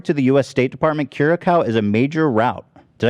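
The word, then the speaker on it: Curaçao: you say the name of this country again curacao curacao thank you thank you curacao excludes the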